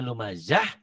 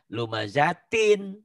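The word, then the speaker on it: لُمَزَة: bener kita ya gitu Kenapa dibacanya lumazah Karena dihentikan Emang kalau gak dinantikan gimana lumazatin Tintin too thin jadi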